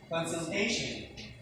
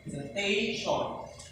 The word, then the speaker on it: consultation: Next, Consultation. Second last syllable. Okay, very good. Consultation.